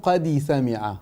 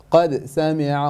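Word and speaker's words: قد سمع: And you qalqala, no qadi sami'a, no. Qad sami'a Allahu, qad, no qadi sami'a. So you added a kasra on the dal, so try to avoid doing that, inshallah.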